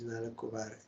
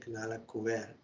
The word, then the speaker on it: Nalakuvar: In their former birth, these two sons, known as Nalakuvar, here is Nalakuvar, also some are pronouncing Nalakuver, and Manigriv were extremely opulent and fortunate.